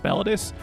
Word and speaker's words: mellitus: It's oh my gosh, mellitus, mellitus.